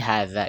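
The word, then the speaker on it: هذا: Yang jelas di sini hadza ini bacanya panjang ya. Ada alif maksurah di atasnya, alif tanda alif, harkat alif di atas ha itu sebenarnya. Yang jelas bacanya panjang.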